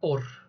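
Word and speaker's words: עור: mientras que la palabra piel también se dice or pero se escribe con ain vav y vale la la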